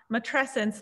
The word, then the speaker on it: matrescence: I think it's matrescence, like adolescence.